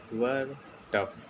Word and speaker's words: WERTF: उसका नाम है वर्टफ, जिसका स्पेलिंग है WERTF.in।